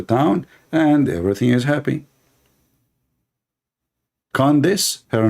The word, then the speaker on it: Candace: How you say her name? Condonos? I want to share my condolence with your mom about having a kid like you. Her name is Candace, Candace, yeah.